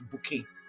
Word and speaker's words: Bucket: Na about Mrs. Hyacinth Bucket wey she dey pronounce as bouquet.